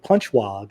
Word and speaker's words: Panchwagh: I'm joined by Dev Panchwagh. Did I pronounce that correctly, Dev?